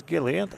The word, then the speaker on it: Gilliland: Pronounced as Gillian as he hits the first one. Just like the NASCAR driver, Todd Gilliland.